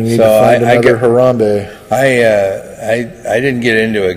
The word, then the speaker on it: Harambe: How do you pronounce his name? Harambe.